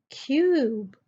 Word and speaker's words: cube: Similarly, cub, cub becomes cube, cube.